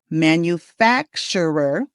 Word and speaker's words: manufacturer: All right, the stress is on fact and we say the word manufacturer or manufacturer. They're both okay. Manufacturer, something like that. I can hardly say it like that, but you need to put the emphasis in the middle on fat.